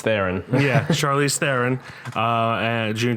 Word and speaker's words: Theron: Or Charlize Theron. I don't know how you pronounce it. It's Theron.